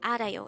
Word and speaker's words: 알아요: study about the word Aro let's start learn Korean one word at a time here at De hango we're at number2 AR Aro this is pronounced as a three syllable word the first syllable is